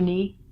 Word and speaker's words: knee: your thigh to your calf it's called your knee got a foot here so the joint that